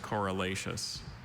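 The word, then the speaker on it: corylaceous: Are there any alternate pronunciations? No, there's not. There's just correlaceous.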